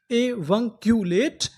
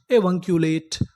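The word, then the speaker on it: avuncular: ए वी यू एन ए वन सी यू इसे क्या पढ़ेंगे? क्यू एल ए ले टी ई टा। तो हमारी पूरी मीनिंग क्या बनी? ए वक्यूलेट।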